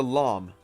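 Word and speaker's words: لام: the next one is a Lum kind of like a llama that sound anyway and this is a L sound the next one is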